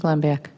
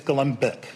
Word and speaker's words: Glembiak: Glembiak? I think we can let you sit down now. Thank you. Oh, and the U is silent, and it's Glembick.